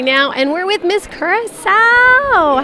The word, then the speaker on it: Curaçao: In Curaçao, we say Curaçao.